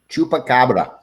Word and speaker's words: chupacabra: And then these were, how do you pronounce that? Chupacabra.